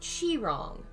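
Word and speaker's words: Qi Rong: It's pronounced like Chi-rong.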